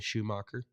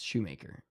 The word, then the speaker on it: Shoemaker: bayy Shoemaker on Sunday shoeer Sho maker I've never heard anybody's name pronounced Shoemaker s h o e m a k r shoeer no it's Shoemaker just like the guy